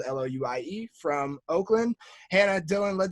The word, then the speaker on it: Louis: Louis spelled Louie from Oakland.